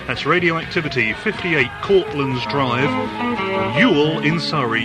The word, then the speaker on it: Ewell: If you'd like to drop us a line, it's Radioactivity, 58 Cortlands Drive, Ewell in Surrey. That's Radioactivity, 58 Cortlands Drive, Ewell in Surrey. Ewell is spelled E-W-E-L-L, by the way.